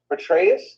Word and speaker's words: Petraeus: Petraeus, okay, you know, and also Peter Thiel, which is Trump's chief advisor.